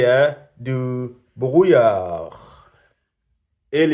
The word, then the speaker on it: brouillard: Il y a du brouillard. Il y a du brouillard. Il y a du brouillard. The D is silent, kind of.